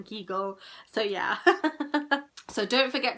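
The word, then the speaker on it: Kegel: talking about the famous Keel and I think I'm saying it wrong kull kull I think of eagle and then keagle so yeah so don't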